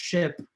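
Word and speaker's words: SHPE: It's pronounced ship. You may hear it from other people. The Society of Hispanic Professional Engineers, ship is the way to go.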